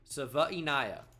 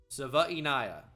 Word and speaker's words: Savaiinaea: Jonah Savaiinaea is how you say that. Savaiinaea.